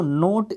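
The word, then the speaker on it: knot: टाई अ नोट, देखो नोट इसको pronounce किया जाता है, के बाद जब भी एन आता है तो के जो है साइलेंट हो जाता है, और इस नोट का मतलब होता है गांठ।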